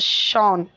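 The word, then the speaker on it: Sean: एंड the English name सीन is pronounced as शॉन.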